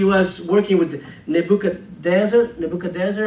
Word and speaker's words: Nebuchadnezzar: years he actually was working with nebuchad dancer Nebuchadnezzar how you say that that's how you say